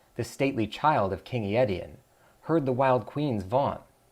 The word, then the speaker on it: Aetion: It is how you pronounce it, I got it. Aetion.